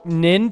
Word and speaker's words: Nin: Okay, so I I'm already sensing a little bit of tension that you want to use Nin to win. It rhymes.